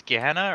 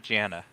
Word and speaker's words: Gehenna: It's Gehenna or not Gianna? With a G?